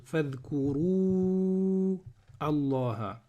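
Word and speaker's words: فاذكروا الله: Eh bien, quand cette hamzat al-wasl, elle n'est pas prononcée, eh bien, elle fait disparaître la voyelle précédente.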